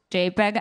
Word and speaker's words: JPG: it's a curation protocol it's spelled jpg but it's jpeg as you know you all know and i'm gonna be